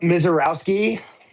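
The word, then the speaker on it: Misiorowski: Jacob Mizorski, however you say his name. Jacob Miserowski.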